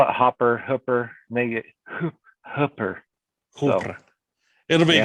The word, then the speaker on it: Hooper: and hopper utah hopper huffer h-o-h-o-o-p-e-r i say hooper turn out pronounce the way they pronounce it if they're